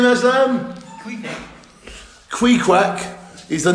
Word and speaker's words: Queequeg: Queequeg. It's a bull terrier. It's a bull terrier, and he killed Moby Dick. Yeah. And how do you say his name, Aslam? Queequeg.